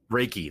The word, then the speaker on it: Reiki: up the pronunciation because if you break it down to what it actually is it's just two Japanese kanji characters Ry and key and so Ry has